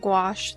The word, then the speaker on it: gouache: wash of some gouache then wash or some gouache it rhymes and then I will